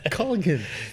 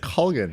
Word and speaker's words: Colgan: It's Colgan. There's Colgan. Guys, did you hear that? It's Colgan.